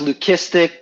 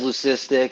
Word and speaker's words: leucistic: lucifer yeah yeah well it's technically pronounced lukistic but everyone says leucistic so i i always go with leucistic so blue hadley sister